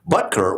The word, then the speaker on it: Butker: Butker, which rhymes with bunker, attacked what he called,